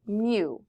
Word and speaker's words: mu: variable that is pronounced mu as in a kitten makes a sound like mu so we want mu